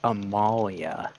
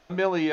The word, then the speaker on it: Amelia: What fucking British chick is named Amalia? Amelia, Well, I guess. quite a few, but that's not the common name. Amelia is the correct way to say it.